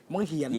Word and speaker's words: บังเหียน: มา กุม บัง บังเหียน บังเหียน มัน จะ หวาด เสียว คำ นี้ มัน จะ หวาด เสียว บังเหียน นะ คะ ฝาก สะกด ใหม่ ซิ หอ เอียยน น ไม่ ใช่น นี้ ออก ผิด หอ เอียย น เหียน อ่า ซึ่ง หาก ทุก คน